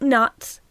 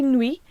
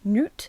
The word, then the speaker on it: Nut: know, it is spelled nuts. Some people say nui. I think that's knight for French. Some people say noot. I don't think anyone says nut.